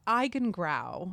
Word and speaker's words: Eigengrau: Yeah, it's it's iigen growl which is a German word for um the color